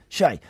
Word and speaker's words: Che: Che. Is there a resonant sign above the E? No. Right, it's Che then.